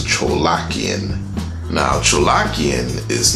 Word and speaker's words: Tcholakian: looked it up and found out how you pronounce his name is Tcholakian.